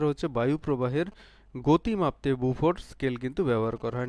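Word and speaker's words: Beaufort: Next question দেখো, বুফোর scale, বিউফোর্ড মনে হলেও আসলে এর উচ্চারণ হচ্ছে বুফো।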